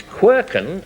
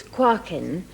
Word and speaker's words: quarkin: And it's quirken. I don't know whether I pronounce it properly. Celia. No, not quite. It's quarkin, and it's a dialect word from Northumberland, and it describes a molehill.